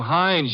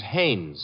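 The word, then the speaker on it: Haines: Well, there's a fellow named Hines used to fish. No, no, no, not Hines. Hannes. Couldn't be. Honeyberg. No, it couldn't be. The name is Hannes.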